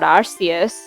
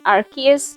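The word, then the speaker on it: Arceus: You're not Arus. Um, no. No. Uh, who? There are only 251 Pokémon and I think the canon pronunciation is Archus now.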